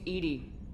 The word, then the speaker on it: EDI: airlock is a jar why are you named Edie Ed is the phonetic pronunciation of Eed the that is an acronym